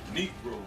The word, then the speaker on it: negro: that these were all Negroes or negro which is actually the correct way to pronounce it it's the Spanish word negro you ain't going to